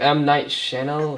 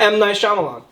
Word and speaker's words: Shyamalan: It's by, I don't know how to pronounce the director's name. M. Night Shyamalan. M. Night Shyamalan.